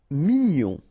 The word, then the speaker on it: mignon: Mignon, okay, here in that case, G-N-O-N, gnon, mignon. Sourd, final D not pronounced, O-U together, ou, sourd.